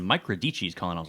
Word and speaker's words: Radice: Radice. That's how you say my name. Oh, really? Italian.